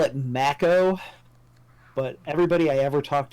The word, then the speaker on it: Mako: the they call it Mac oh but everybody I ever talked to you called it Mako right because that's how you would pronounce that word in English so super [ __